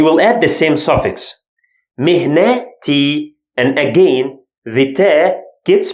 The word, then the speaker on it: مهنتي: But when it gets its shape, becomes te. مهنتي.